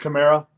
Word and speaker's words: Kamara: But It's pronounced Camara.